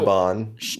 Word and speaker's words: Siobhan: It's BH. So, Siobhan. No, Siobhan. Yeah. With a V. But it's spelled Siobhan.